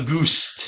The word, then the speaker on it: Auguste: It's whatever the fuck Auguste. you would pronounce it in French.